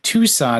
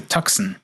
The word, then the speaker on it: Tucson: was like the um my brother was looking at a Hyundai Tucson and like the salesman insisted on calling it The tuxen and you're like oh gosh that is just so wrong yeah so maybe you're